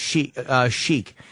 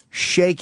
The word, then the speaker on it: Sheik: It is pronounced chic. However, shake is also a proper pronunciation.